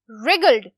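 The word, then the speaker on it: wriggled: रिगल्ड, W क्या है? Silent. ठीक है, रिगल्ड, रिगल्ड का मतलब है बल पड़ना।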